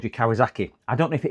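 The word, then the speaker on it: Kawasaki: Uh, Kawazaki is how it's pronounced.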